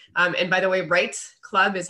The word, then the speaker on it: REITE: from there so um and by the way right club is how you pronounce it it stands for real estate investing